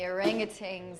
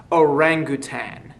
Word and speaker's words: orangutan: I was in Sumatra living among the orangutans at the time, and they get very nervous if they spot anything from the modern world. First of all, it's pronounced orangutan, not orangutan.